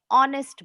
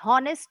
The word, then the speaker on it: honest: एच एक consonant है, बट इसका प्रोनाउंसिएशन वॉवेल की तरह हो रहा है. ऑनेस्ट बॉय, हॉनेस्ट नहीं बोलेंगे.